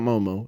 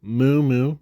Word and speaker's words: Moo Moo: Not Momo, it's Moo Moo, because they both have